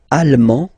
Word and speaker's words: allemand: L'Allemagne, allemand, allemande, okay, same thing here. En, okay, you don't pronounce the final D, but then you pronounce it here for the feminine form.